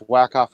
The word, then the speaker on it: Wyckoff: It's Wyckoff America. Oh, yeah. But yeah, you're mispronouncing it.